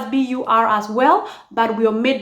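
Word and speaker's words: buur: Okay, according to the Luo dialects of the Luo of Barkazal, the word for whole is spelled as B-U-U-R. Bur.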